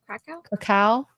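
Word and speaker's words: Kraków: Where's Krakow? Did I say it right? Krakow? Krakow? Cacao.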